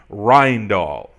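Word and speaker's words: Rijndael: original name was and this is my best pronunciation Ryan Dahl that's Dutch so AES what what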